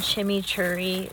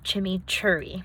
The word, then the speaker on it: chimichurri: All the times that I've seen it, it's called chimichurri. Like, it's spelled CHIMMICHURRI, like chimichurri.